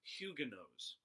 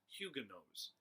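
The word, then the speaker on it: Huguenots: for these people was Hyuga knows hu g ue m OT s Hyuga knows that's the correct pronunciation I've even checked it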